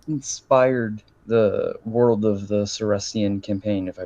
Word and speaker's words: Seriscan: Yeah, so what inspired the world of the Seriscan Campaign, if I pronounce that right? Seriscan.